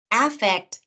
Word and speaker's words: affect: it's the vowel, but often in conversation, the first vowel in those two words gets reduced to a schwa, to that lazy sound. What's different, however, is the syllable stress. Affect, effect.